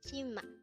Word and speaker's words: 치마: see raise the voice T and sexual boy is ma pronounce it to me Chima the word Chima is a Korean noun which means skirt again